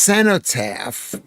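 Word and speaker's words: cenotaph: It's pronounced senotap, says Judles.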